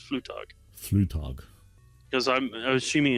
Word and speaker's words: Flugtag: Union Newcastle they're going in Red Bulls whatever Flugtag Flugtag why is it so no tag that's how it's spelled is pronounced flu talk flu talk because I'm assuming it's a German